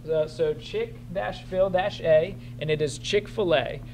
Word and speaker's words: Chick-fil-A: Yeah, and it's spelled so Chick-fil-A, and it is Chick-fil-A. So I know a lot of people want to say Chick-fil, Chick-fil-A, and all kinds of stuff. There's no A in here. It's just Chick-fil-A.